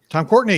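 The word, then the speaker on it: Tom Courtenay: check these out for yourselves i believe it's pronounced tom cortenae tom courtney yep yep yep yep there yeah um michael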